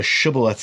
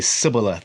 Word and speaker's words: shibboleth: And they were like, hey, pronounce shibboleth. And if the people they couldn't say the shibboleth, they would say sibboleth.